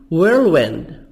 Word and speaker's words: whirlwind: Whirlwind, event, H silent. Balance, equality, British American equality. TY soft DY منطقة دي خفيفة Y.